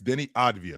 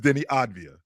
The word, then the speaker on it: Avdija: Deni It's Deni Avdija. That's the way it's pronounced. Deni Avdija? It's spelled, to your point, the way it's spelled. That's the way it's spelled, but it's the way it's pronounced is Deni Avdija.